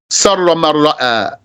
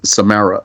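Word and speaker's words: Surra Man Ra'a: They captured him, and he was killed upon a pole in Sarra Marra'a. That's the name of a town. So the way it's spelled there, maybe they'll say Samara or something.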